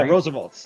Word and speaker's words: RSVLTS: Oh, somebody Connelly down in South Carolina over on Instagram says, I don't know how you pronounce it. RSVLTS shirts or Yeah, Roosevelts. That's what they say.